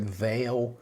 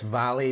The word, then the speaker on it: Vale: is called valley or in english you'd pronounce it veil v-a-l-e but i know it's valley because it's a brazilian company and it means uh